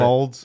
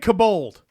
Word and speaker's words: kobold: You said kobold. Kobolds. Kobold. So what's we- the real word, Stefan? We both know what we're talking about, Yeah, but see? we're putting emphasis on different syllables for arbitrary reasons.